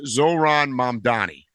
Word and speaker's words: Zohran Mamdani: There's this guy called I'm going to mispronounce his name, but his name is Zoran Mandani.